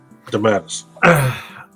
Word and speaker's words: DeMatteis: So it's on Kickstarter right now, a project called the Multiverse, which is JM DeMatteis. How do you say it, Ron? DeMatteis.